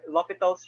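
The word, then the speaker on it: L'Hôpital: is going off and lopital's rule it's spelled as l hospital's rule so that's the the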